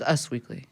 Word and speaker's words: Us Weekly: like in touch and is it US Weekly or US Weekly I've never known how to pronounce it it's US Weekly US Weekly which they should make a magazine like that document if it was U.S weekly there would be it would be dots yeah that makes sense